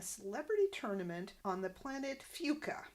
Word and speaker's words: Fuca: Orson says he needs to practice because he's playing in a celebrity tournament on the planet Fuca. And that's how it's pronounced, although the subtitles spell it as F-U-C-A, so kind of getting that past the censor.